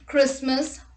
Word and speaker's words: Christmas: look at the rule t is not pronounced in this common words let's look at the examples castle christmas fasten listen orphan whistle